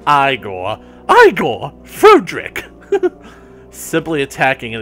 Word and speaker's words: Igor: Igor? No, it's pronounced Igor.